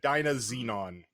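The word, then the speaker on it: DynaZenon: Dyna Xenon.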